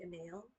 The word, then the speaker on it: O'Neill: So it's an O'Neill. It's a medium. It's a Caprice. Oh, Caprice Adrian Super Fleece. Because, but I think there's some pronunciations like a nail.